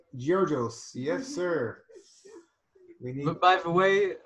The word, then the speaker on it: Georgios: Yeah, Steve says the world needs more youth like Georgios. Yes, sir. By the way, my name, that's how it is in German, Georgios.